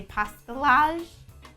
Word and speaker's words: pastillage: answer the phone and I also don't pronounce the two L's I think I've heard people in different countries say pastel so if you're wondering what I'm talking about and you're from another country I'm probably pronouncing it wrong okay so you can